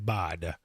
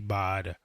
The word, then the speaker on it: baht: a price of 109 bod it's pronounced bad it feels like butt but it's bought anyway 109 bod easy